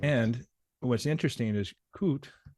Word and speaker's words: COOT: And what's interesting is COOT, do I pronounce that properly? Yes.